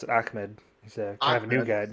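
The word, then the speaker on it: Ahmed: Deandre was it yeah is yeah he actually pronounced it ammed he's a new guy s ammed okay DeAndre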